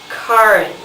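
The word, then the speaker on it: Charon: men whose name is Karen k sound not sh sound not CH sound though that I think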